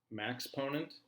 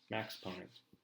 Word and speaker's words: Maxponent: It's pronounced like the word exponent, but with a max at the beginning. Maxponent? Here. Maxponent.